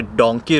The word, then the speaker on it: Dunki: Actually it's अ डोंकी root, but Punjabi में उसको डंकी pronounce करते हैं और हमारे गुजरात में उसको लोग 2 नंबर या फिर कबूतरबाजी भी बोलते हैं।